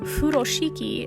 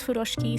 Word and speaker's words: furoshiki: Furoshiki is how it's commonly pronounced in English, which is perfectly fine. The pronunciation in Japanese is Furoshiki, so you'll hear me referring to it as that.